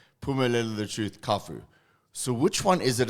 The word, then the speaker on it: Cafu: the thing is um at home they used to call it kafu uh but the thing is ever since uh since Primary School I've been in school with with colard so whenever they pronounce my name they would say so uh and most of the people say so I kind of like preper because it's easier for for everyone to pronounce it so it's kafu okay yeah for me